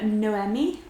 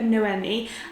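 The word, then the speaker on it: Noemí: So in this book we follow our main character Noemi. I had a comment which told me that you are pronouncing it with the emphasis on the me rather than the M, but I'm not entirely sure that I'm pronouncing it right.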